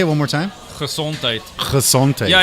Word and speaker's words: Gezondheid: Gezondheid.